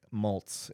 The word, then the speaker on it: Maltz: tuned for this so sir uh moltz am I pronouncing that correctly yes okay uh born and